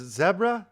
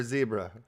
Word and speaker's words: zebra: on that knife though now is this pronounced zebra or zebra sure it is zebra okay i guess if you're in canada because they say zed right so it's zebra if you're in canada okay i'm just you know